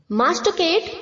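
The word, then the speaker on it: masticate: मास्ट केटेड मास्ट केटेड इसे हमें बच्चों मास्ट केट नहीं प्रोनाउंस करना है मास्ट में जो टी के आगे आई है उसे हमें माटी नहीं प्रोनाउंस करना है मास्ट केट ओके मास्ट केट मास्ट केटेड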